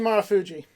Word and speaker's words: Marufuji: Naomichi Marufuji. Yeah, I just want to make sure. Marufuji, banger, 5 stars.